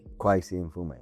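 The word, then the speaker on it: Kweisi Mfume: Kwesi Mfume.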